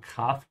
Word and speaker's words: Kraft: And also, especially if you're an English speaker, make sure to open your mouth wide on the A. So Kraft, not Kraft. Yeah, Kra.